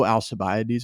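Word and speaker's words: Alcibiades: I'm saying that second name right I know alabes is right because I looked it up because it's spelled crazy some ancient name but um alabes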